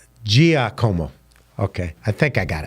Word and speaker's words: Giacomo: So I always bastardize a word when a name when I'm talking, but you have D-I-G, and it's really D-I, it's pronounced D-I-J. So Giacomo.